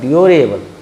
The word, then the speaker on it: durable: जैसे DURABLE उच्चारण होता है ड्यूरेबल। ड्यू नहीं बोलिएगा, ड्यूरेबल।